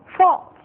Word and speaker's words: false: Dizendo falso fica mais fácil de dizer false.